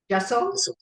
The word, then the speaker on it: Jassal: Jessel. Jessel.